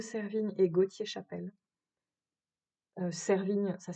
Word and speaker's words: Servigne: Euh Servigne, ça s'écrit S E R V I G N E.